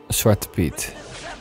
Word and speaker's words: Zwarte Piet: Zwarte Piet.